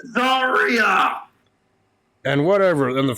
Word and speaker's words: Zaria: That doesn't mean I can pronounce their damn name correctly. Shut it. It's Zarya.